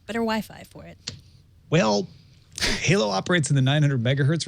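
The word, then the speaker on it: HaLow: h l o w it is not pronounced hello as I thought maybe like hello uh it's Halo and it's essentially a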